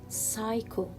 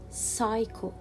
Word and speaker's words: psycho: not pronounce letter p here psycho i will not pronounce letter p so it will be psycho psycho and here psychology psychology